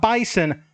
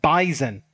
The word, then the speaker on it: Bison: Not Bison, but Bison. Apparently, if you don't pronounce it correctly, they'll take it personal, so